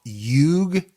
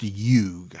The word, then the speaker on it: Hugues: There's a lot of silent letters in it. Use my hook on phonics and you got it. It looks like Hugues, but the way I understand it, it's pronounced Hugue.